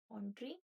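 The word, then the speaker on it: entrepreneur: इसका प्रोनाउंसिएशन क्या है? ऑन्ट्रप्रेन्योर।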